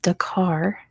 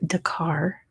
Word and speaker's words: Dakar: not Senegal Senegal is Dakar as in you're driving the car Bangladesh is yeah there's